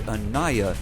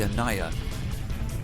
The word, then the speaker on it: Ania: It's the author of the ship, who's also the author of the custom campaign, Abie, told me the Ania is actually pronounced the Ania, I believe. The Ania.